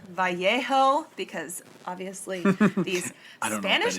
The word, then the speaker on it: Vallejo: So this pair was from Vallejo, or maybe it's Vallejo, because obviously these Spanish names have tripped me up before. And I think technically it should be pronounced Vallejo, but Vallejo is how I've been hearing it.